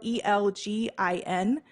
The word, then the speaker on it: Elgin: It's spelled E-L-G-I-N, Elgin, Illinois.